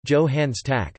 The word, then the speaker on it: Johannes Stark: Johannes Stark, German pronunciation, Johannes Tack, the 15th of April 1874 to the 21st of June 1957, was a German physicist and physics Nobel Prize laureate.